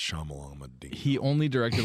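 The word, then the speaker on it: Shyamalan: by our dude imight shamalan shamalan um it's pronounced shamalan he only directed like two episodes of the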